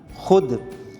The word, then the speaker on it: خود: کیسے پیدا ہوتی ہے۔ واو معدولہ وہ واو جو تلفظ میں ظاہر نہیں کی جاتی اور ہمیشہ ہے اور خے کے بعد آتی ہے، مثلا خود۔ اب اس میں ہم